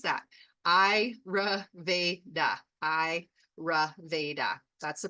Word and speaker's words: Ayurveda: So the ayurveda so that's exactly sometimes you look at the word and it's like how do you pronounce that Iraveda that's the pronunciation and the definition is it's